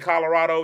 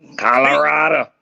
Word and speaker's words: Colorado: people say the state Colorado, you're going to hear 400 different pronunciations. Nobody can say Colorado. Somebody say Colorado. Listen, that last O gets dropped a lot.